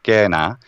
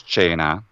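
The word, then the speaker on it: cena: one word would be the word for dinner in latin which is kena in italian it's chena um for example and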